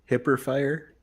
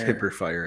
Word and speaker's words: Hyperfire: did they make triggers it's pronounced hipper fire which is the only thing that you can do to make that Tombstone cool is hip or fire it yes they do